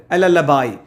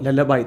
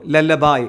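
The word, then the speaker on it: lullaby: ഇനി അടുത്ത പാട്ട് ലല്ലബായ്. ലല്ലബായ് എന്ന് പറഞ്ഞാൽ ലല്ലബി അല്ല കേട്ടോ, ലല്ലബായ് താരാട്ട് എന്നാണ് അർത്ഥം. അപ്പോൾ ഉച്ചാരണം ശ്രദ്ധിച്ചോളൂ, ലല്ലബായ് എന്നാണ് അത് പറയാം.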